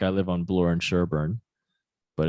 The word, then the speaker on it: Sherbourne: We say Sherbourne, but it's spelled Sherbourne. Nobody really says Sherbourne.